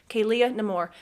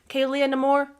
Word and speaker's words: Kaylia Nemour: Kaylia Nemour. Kaylia Nemour.